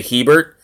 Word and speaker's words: Hebert: a lot of people I set a bear mainly because people miss will misspell it if I say Hebert for some reason if I say Hebert they think I'm saying Herbert and they put an R in between the E and the B so you know even